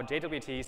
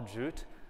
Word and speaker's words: JWT: to learn about how jwts fit into connect authentication uh just as a preface notice i said jwt not jot or jute i think any same realize that it can only pronounce jwt i mean it's three